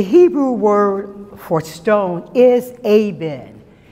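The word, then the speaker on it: אבן: meant and the hebrew word for stone is aben it's spelled e-b-e-n but it's pronounced a b e in abend it is made up of two separate words ab meaning father and then meaning son the stone aven is the hebrew in hebrew means the father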